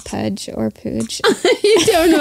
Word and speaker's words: Puj: So it's either Puj or Pooj Tub. I vote Puj. Cast your votes. It's P-U-J.